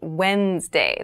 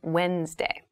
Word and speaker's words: Wednesday: mind this is pronounced Wednesday There's a d there but we don't say wednessday we say Wednesday Wednesday the 18th Wednesday